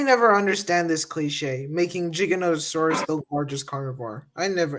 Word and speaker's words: Giganotosaurus: Hulk smash but uh you know sometimes someone pronounces it like uh gigantosaurus and I'm like that's not how it's spelled